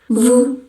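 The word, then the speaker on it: vous: Contoh yang pertama itu ada Vu. Vu. Vu biasa bacanya Vu aja.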